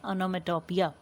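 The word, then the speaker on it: onomatopoeia: Pronunciation ठीक करें, ओनोमेटोपिया।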